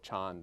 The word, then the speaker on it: Chan: title of my book Chon this is the Chinese pronunciation of the word Zen in Japanese which is of course